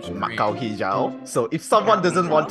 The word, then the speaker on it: Mak Kau hijau: You're not gonna give us a little pronunciation? Mak Kau hijau. Mak Kau hijau.